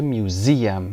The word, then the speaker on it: museum: turn the house یعنی چنجش بکنه، تبدیلش بکنه و موزه تلفظش میشه museum. استرسش رو روی ز بذارید.